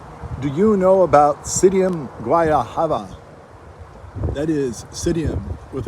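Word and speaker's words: Psidium: Do you know about Psydium guayahava? That is Psydium with a capital P. It is P-S-I-D-I-U-M. I believe the P is silent. I'm not sure why they put it there.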